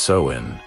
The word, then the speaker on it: Samhain: Long before trick-or-treating and superhero costumes, there was an ancient Celtic festival called pronounced Samhain.